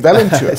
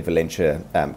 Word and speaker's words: Valenture: And I'm very curious as to how you came up with the name Valenture. Sure. Well, am I pronouncing it correctly? Pretty close. So it's actually a portmanteau of valiant and adventure.